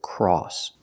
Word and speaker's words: cross: now let's practice with cross remember the sound is all like saw and call cross this is a